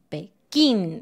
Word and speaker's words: Pekín: Y este también lleva una tilde. Pekín. Pekín. Porque si no llevara una tilde, sonaría como Pekín. Porque naturalmente uh-huh. Nosotros acentuamos la sílaba una antes del final.